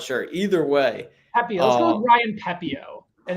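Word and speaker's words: Pepiot: game yeah so so if we're going to go with pepio as uh the sort of agreed upon pronunciation the numbers are pretty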